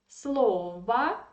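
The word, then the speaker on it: слово: have to say that this word slova is very tricky for foreigners who study russian language because we pronounce slova yeah and they think that it is feminine gender i mean even not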